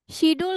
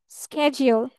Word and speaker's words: schedule: শিডিউল কিন্তু বলবো না। কি বলবো না? শিডিউল বলা যাবে না। আমরা কি বলবো? স্কেজিউল। কি বলবো? স্কেজিউল। স্কেজিউল।